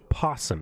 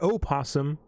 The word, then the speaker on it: opossum: no no no yes the word possum starts with an O that's correct however you don't pronounce the O you call it a possum it's not an opossum it's a possum and